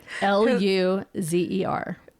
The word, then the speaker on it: Luzer: Yep, Luzer. But that's actually how you pronounce it. That's how you put Loser.